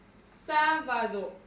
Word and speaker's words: sábado: Tengo la palabra sábado. Nuevamente, lo primero que hacemos es identificar su sílaba tónica. Sábado. ¿Dónde recae la mayor fuerza de voz? En sa.